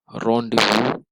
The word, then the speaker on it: rendezvous: It is pronounced as rendezvous. Rendezvous.